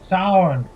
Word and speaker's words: Samhain: Transmit, initiate Samhain How was it you pronounce that again? Sound.